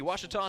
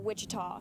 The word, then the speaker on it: Ouachita: Tiger baseball on the Ouachita Sports digital Network I've heard people say oh a cheetah oh Wichita oh a cheetah is it pronounced oh Akita everybody pronounces it Wichita but really it's Ouachita Washington how would you pronounce